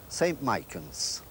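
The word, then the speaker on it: St Michan's: and the Henry Jacksons there's three pronunciations of the name the people in RAR say ST mikans which is probably correct anyway the people in County Dublin say St M and the people in the heart of Dublin say St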